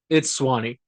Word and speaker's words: Suwannee: So it's Swanee. I just like calling it Suwannee because that's the way it's spelled.